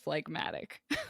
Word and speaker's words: phlegmatic: is that right medic like i think it's phlegmatic hey google how do you pronounce phlegmatic i know it's pragmatic google says it's pronounced phlegmatic okay anyway okay people who are